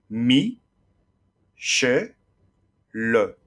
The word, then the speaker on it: Michel: Par exemple, Michel s'écrira Mi, Che, Le. Il faut donc 3 syllabes, Michel, sachant que le E de la dernière syllabe est muet.